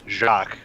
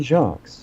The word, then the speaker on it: Jacques: Brian Jacques. Or Jacques. You don't even, the S is silent, technically.